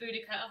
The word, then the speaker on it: Boudica: And the front cover is definitely Boudica holding an iPhone and a Starbucks latte.